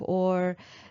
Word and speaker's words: or: Or if you go to Canada, that will be something very different as well.